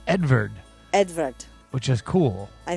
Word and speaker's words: Edvard: It's Edvard.